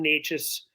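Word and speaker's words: Nečas: correct I believe Martin NES I was call him Nikas all week but I I realized I was saying his name wrong I say a lot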